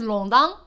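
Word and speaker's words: 弄堂: Let's talk about Shanghainese longdang. In Mandarin Chinese, we've transliterated to nongtang. So if you see like longtang, it's written like a nong, but it's pronounced like long.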